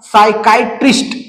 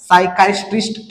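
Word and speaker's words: psychiatrist: त्याच्यानंतर आहे सायकायटिस्ट सायकाटिस्ट या शब्दाचे वाचन करत असताना पी हे लेटर आहे आपलला सायलेंट ठेवायचा आहे लक्षात घ्या आणि याच वाचन आपलला सायकास्टिस्ट या पद्धतीने करायचा आहे त्याच्यानंतर पुढच जे एक्झाम्पल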